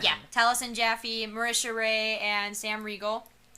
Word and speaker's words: Taliesin Jaffe: It's Taliesin Jaffe. That's how you pronounce it, right? Yeah, Taliesin Jaffe, Marisha Ray, and Sam Riegel.